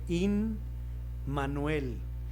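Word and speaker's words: Immanuel: Se lee in manuel. Y si ustedes separan la palabra como suele ocurrir con los nombres y las palabras en hebreo, se compone de tres eh sílabas. La primera sílaba, im, que leeríamos en español em, significa con.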